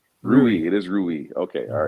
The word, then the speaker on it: Rui: you know and obviously with the do we pronounce his name rui it is rui okay all right so with the acquisition of